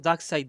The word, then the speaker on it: Darkseid: Ah c'est bien son écriture, mais ça se prononce Darkseid, d'accord.